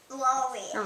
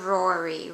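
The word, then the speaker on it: Rori: r o r i r o r i how do you say it what's your name rory rory right how old are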